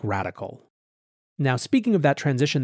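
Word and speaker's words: Radkl: individual capacity in a firm called radical although it's spelled r-a-d-k-l it's a quant trading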